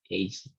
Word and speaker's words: aged: The following ed words used as adjectives are pronounced it. No, aged, doge, ragged, blessed, learned, wicked, crooked, naked, wretched, yeah, wretched. In this case, you have to pronounce like that, aged, dodged, wretched.